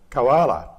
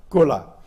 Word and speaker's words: koala: Now, I don't know whether you know, but the English word koala is a corruption. Someone misread the K-O-O, misread the second O as an A when it was handwritten, and we've got a spelling pronunciation, koala. We don't want koala, we want the original, kula.